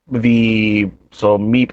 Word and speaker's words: MEPE: So meep mode, if I'm not mistaken, it's spelled MEPE, right?